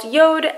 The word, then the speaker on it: Jord: Even though the watch is pronounced Yord on the face of the watch, it says J-O-R-D, so I think that's